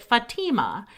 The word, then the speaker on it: Fatima: speak on her book she did say this is a traditional Palestinian name and she pronounced it Fatima maybe there are Regional dialect pronunciations but that was the one she used love the podcast thanks